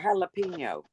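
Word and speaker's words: jalapeño: But your J Correct. becomes an English H.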